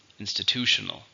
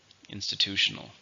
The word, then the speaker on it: institutional: adjective how many syllables institutional five let's stress in the third syllable institutional institutional rules can be very